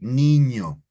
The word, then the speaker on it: niño: So this specific letter is ñ and is pronounced ñe, right? Like niño.